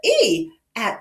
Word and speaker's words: eat: This word has an E at the beginning. Right, it has an E at the beginning, and it does not sound like eh.